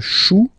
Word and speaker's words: chou: Then, un chou. Okay, remember, when you combine this C and H, you get the sound sh. Chou, un chou. Pluriel, des choux.